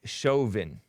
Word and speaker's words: Chauvin: cops name is Derek Chauvin as in Western chauvinist I'm kidding I'm kidding